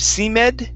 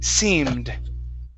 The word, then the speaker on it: seemed: uh next is uh the word seemed instead of c med okay seemed i thought i said seemed there you go okay